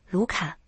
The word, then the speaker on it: LUCA: 它的英文缩写是 LUCA，一般直接读作卢卡。